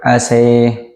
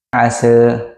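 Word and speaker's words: عسى: Perbedaan pertama yaitu pada kata asa. Imam Hamzah dan Al-Kisai membacanya dengan imalah, yaitu asy. Dan bacaan kedua Imam Ad-Duri dari Abu Amr Warsh, mereka membacanya dengan taklil, yaitu asa. Dan bacaan imam lainnya membacanya dengan fathah biasa, asa.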